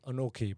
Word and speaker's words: Anokhi: Pronounce Anoki, by the way. Anoki, yeah. Anoki. And it's Karan, not Karen.